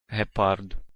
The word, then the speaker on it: Gepard: Oh, that guy definitely ends it with more of a T than a D sound. Gepard. That guy does like a D sound at the end. The vocalization of the last consonant is different. Gepard. Gepard. Hepard. Hepard. That's Ukrainian. Hepard. Hepard. Hepard. Gepard. Gepard. Gepard. Gepard. That's Russian. Gepard.